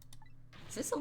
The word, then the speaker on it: Sissel: Sissel does rhyme with Missile.